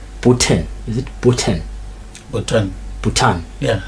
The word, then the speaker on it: Bhutan: Kevin is going to assist me with the pronunciation bana Makedlamini. It's Bhutan.